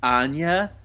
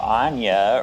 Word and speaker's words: Anya: Yeah, and somehow Anya rhymes with Nina for some reasons in this movie.